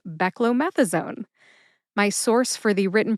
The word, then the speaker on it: beclomethasone: I failed to enunciate, it sounds more like beckmethazone. Beckamethasone. If you say it that way too, you're in good company because sometimes that's how it comes out. But officially, this drug name is pronounced beckllomethasone.